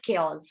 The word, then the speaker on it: chaos: वाला जो एरिया होता है, that is called क्योस. How will you pronounce this word? क्योस. क्या बोलेंगे? Yes guys, क्योस. Okay, chaos.